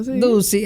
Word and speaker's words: Ducy: Yo siempre lo he pronunciado como me da mi gana. Ducey, así mismo.